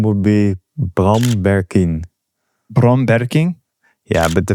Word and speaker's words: Bram Berkien: Well, my full name would be Bram Berkien.